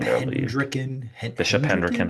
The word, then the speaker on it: Hendricken: Like I was a very different person as a kid, but still, by the way, Dallas is Bishop Hendricken High School.